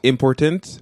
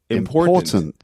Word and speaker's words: important: portal yeah but important so the in in english the stress is on the second set not important but important and there's also other